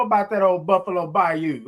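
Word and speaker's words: Bayou: People People don't know about that old Buffalo Bay by you. Okay. By you. Okay. That's how they say it. By you. Not by you.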